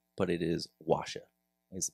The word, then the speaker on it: OAXA: It is pronounced O A X A, but it is Washa is the pronunciation for that.